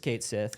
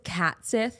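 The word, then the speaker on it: Cait Sith: People were like, surely it's not just Kate Sith. No, it's just Kate Sith. It's just Kate Sith. It's just Kate Sith. That's it. It's just Kate Sith. Someone said they thought it was Cat Sith.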